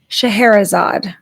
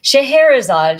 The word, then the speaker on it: Scheherazade: And tonight's goddess, her name is Shahara. And that is spelled not like it sounds, but kind of like it sounds. S C H E H E R A Z A D E. Yes. Shahara.